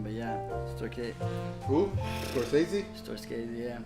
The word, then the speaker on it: Scorsese: Storscasey. I can't even say his name, but yeah. Who? Scorsese? Storscasey, yeah. Scorsese.